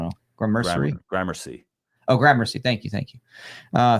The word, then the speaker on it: Gramercy: do I don't know or Mercury Gramercy oh Gramercy thank you thank you uh thank you um it's terrible he assumed by someone claimed he installed the video camera in 1990.